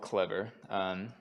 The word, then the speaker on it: Clevyr: So I work at a company called Clevyr. It's spelled just like the word clever, but the last E is actually a Y because we're clever like that.